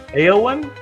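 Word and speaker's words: Éowyn: And, gosh, I don't know if I'm going to pronounce it correctly. Eowyn?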